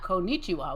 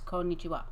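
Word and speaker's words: こんにちは: I learned that Japanese has no emphasis on any syllable more than any other syllable. Ever? Or just in this word? No, I think ever. Wow. You speak everything at the same level of... Because in English, the emphasis is so much tied to meaning. Yes. Wow. Okay. So it's not konnichiwa, which is how a lot of Americans say it. It's konnichiwa. It's konnichiwa. Yeah.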